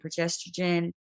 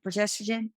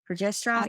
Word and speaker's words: progesterone: I'm I was like low on estrogen and progestogen progesterone how do you say it progesterone progesterone yeah and so it's tough it affects a